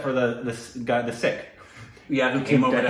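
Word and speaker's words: Sikh: sick you probably referred to him more as seeks yes yeah no that's not correct correct no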